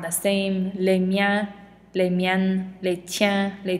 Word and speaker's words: les miens: And as a reminder, surprise, we do not pronounce this S at the end. So I could read these all off to you again, but they will sound the same. Les miens, les miennes, les tiens, les tiennes.